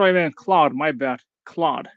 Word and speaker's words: Claude: me Claude my bad Claude it's it's a French name it's uh isn't there like an actor Jean Claude vanam yeah but yeah